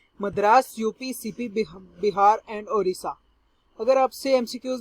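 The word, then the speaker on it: Odisha: Basically Urdu में अगर ओडिशा को किया जाए प्रोनाउंस तो अरीसा बनता है।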